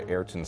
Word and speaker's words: Ayrton: What is the name of the Adidas racing boot famously worn by Ayrton Senna? Is that how you pronounce his first name?